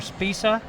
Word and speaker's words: Spicha: This is Spicha. 1 minute. Spisa, Poland. Well, Johnny, the speaker, is calling her Spisa. Okay, then we go with him I because think we